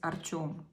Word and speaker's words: Artyom: His, if you pronounce it in Russian, it's Artyom.